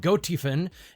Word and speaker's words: Gothiefen: I actually think it's the user's name, Tiefen, and the word go put together, but German was my second language, so anything that looks remotely German, I pronounce with a German pronunciation. So we're going to go with Gothiefen.